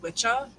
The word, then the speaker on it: Wicca: So the word Wicca actually comes from Old and Middle English, but it would have been pronounced Witcha.